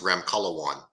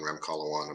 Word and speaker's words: Ramkhalawan: can hear it I just don't want to mispronounce it that's okay uh last name is Ram color one my name is Dr ramkalawan I'm actually a clinical pharmacist but um I